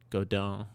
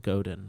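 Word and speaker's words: Godin: uh, with P90s, uh, I don't know how to pronounce it because it's French, but God is the is the best I can. I would, as as an American and I, if I saw it naively, I would pronounce it Goden, but that is not how it's pronounced.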